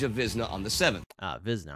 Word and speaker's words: Wizna: Wizna, I said starting with the W. Apologies for pronouncing the battle name wrong.